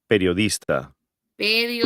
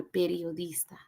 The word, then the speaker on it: periodista: Let's just be happy that it's just soy periodista. Periodista. Not periodista, periodista.